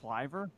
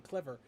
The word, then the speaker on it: Cliver: it's cl is it it's cliver huh cliver that's how you pronounce ryan cliver's name i've been saying clever it's ryan i have